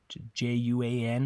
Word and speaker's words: Juan: in Spanish the J the letter J always makes a an English H sound okay it's always a